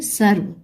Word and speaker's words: सर्व: कैसे प्र प्रोनाउंस करेंगे सर्व यह देखिए व के ऊपर लगा हुआ है र लेकिन इसकी आवाज व से पहले आ रही है सर्व दूसरा शब्द है दीर्घ